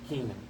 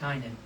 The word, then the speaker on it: Cainan: When Enosh had lived 90 years, he became the father of Canaan. Actually, it's pronounced Cainan.